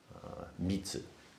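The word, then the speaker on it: 密: in Chinese is secret mitsu is the Japanese pronunciation for it and um it's a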